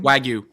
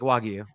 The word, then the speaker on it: Wagyu: What? Which way? With the G or no? With with the G. Did I say it weird? You said I don't know how to say it. Okay. Very softy. Like wagu. It's It's Japanese.